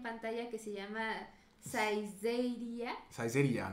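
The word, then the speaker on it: Saizeriya: Saizeria, ¿no? Así es como se pronuncia.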